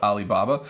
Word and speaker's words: Alibaba: the company Alibaba so that's how we would pronounce it as English speakers we would call it Alibaba this is a large